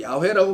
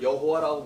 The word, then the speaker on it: 야훼: 그래서 여호와라는 소위 야훼라고 발음하는 게 좀 맞긴 한데 요드해 와브해인데 자 요드해 와브해 이렇게 자음을 이렇게 읽어요. 그래서 이걸 여호와라고 부르는데 야훼라고 부르는 게 사실상 더 발음이 가깝습니다.